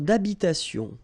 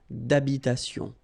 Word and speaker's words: d'habitation: Une tour d'habitation. Remember, H doesn't exist in French, well, in most of the cases, so it does mean that you don't pronounce it, all right? So, d'habitation.